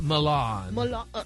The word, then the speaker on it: Milan: It's Milan. Milan. That's right, baby. You got to drag it out.